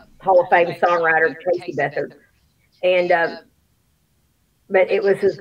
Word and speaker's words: Beathard: Is that how you pronounce his last name? Beathard, yeah. Beathard.